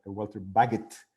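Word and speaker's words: Walter Bagehot: cita famosa de esto este nombre se pronuncia waltrip baguettes no sé por qué los ingleses a veces tienen esa costumbre de escribir escribir los nombres de una manera que si uno lo ha oído no sabe cómo se pronuncia vaguete escribió el libro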